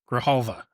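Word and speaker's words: Grijalva: Grahalva.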